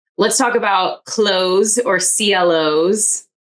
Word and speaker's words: CLO: All right, let's talk about close or CLLO's. I think close is the right way to say it.